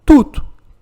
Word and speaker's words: toute: Tout, que é o feminino singular, sempre vai se pronunciar tudo. Pouco importa se ela for junto com o nome, se ela for um advérbio ou se for um pronome. É sempre a mesma pronúncia.